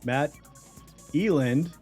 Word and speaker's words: Matt Eland: well let's bring in our guests let's Welcome Matt Eland into the show yeah that was the correct pronunciation I was I was like oh is